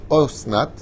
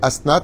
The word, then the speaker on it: Asnat: Alors, elle a bien prononcé parce qu'on peut le prononcer osnat mais asnat c'est comme ça qu' faut le prononcer à fait.